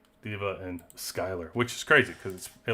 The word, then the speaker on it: Skyler: So we'll say Diva and Skylar, which is crazy because it looks like Schuler. Skylar. Okay.